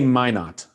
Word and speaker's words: Minot: Yeah, and I was reading the piece on, it's Minot, is that how you pronounce this town? They actually say Minot.